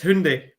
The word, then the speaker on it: Hyundai: so so that everybody knows because people keep pronouncing it wrong to me it's Hyundai so yeah don't don't tell Siri that you're